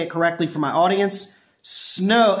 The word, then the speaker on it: Snom: it for my audience snow it's like snow with an M on the end so snow is the